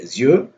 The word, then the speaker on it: Azure: Like, so the way that the Americans say it is Azure. The way that we say it in South Africa when we see that word is Azure.